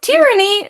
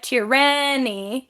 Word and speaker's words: tyranny: But with tyranny, for some weird reason, we emphasize the first syllable. It's probably has a different language of origin because newsflash, a lot of our which syllable we stress has to do with the language of origin, how it's spoken, language originally. I think it almost is this comical word to me, tyranny, instead of tyranny.